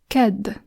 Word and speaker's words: kedd: Kedd. Kedd. Which means Tuesday. Next up we have the letter K, which we pronounce as ka.